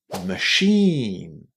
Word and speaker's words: machine: And in here we pronounce it as sh exactly in the same way as you would tell somebody to be quiet. Sh. Machine.